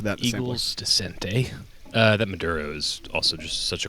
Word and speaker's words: maduro: It's like you spell it Madoro. Maduro. Yeah. I mean, there's a good chance that would be how I would end up spelling it. So no, you're saying it wrong for sure, but it's just Maduro.